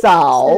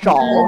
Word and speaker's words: 走: Zao. Zao. Zao. It's not a zhao.